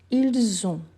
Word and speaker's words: ils ont: Donc vous avez, ils ont, le S avec les sons du Z et le T, je ne le prononce pas.